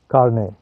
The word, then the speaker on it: carnet: एक शब्द कारने, इसका क्या स्पेलिंग है? CARNET, कारने।